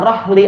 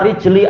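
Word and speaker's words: رحل: Nah, ini untuk dijelaskan karena sebagian orang membacanya keliru, yang tidak membaca Quran kepada seorang guru, dia malah membaca ala rijli akhi. Nah, ini salah besar. Meletakkan cawan piala itu ke kaki saudaranya, itu salah. Tapi apa? Rahli akhi, kendaraan saudaranya. Dan siqayah wazan fi'alah.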